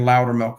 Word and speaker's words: Loudermilk: And Loudermilk, again, is spelled LOUDERMILK, like speak louder and give me milk.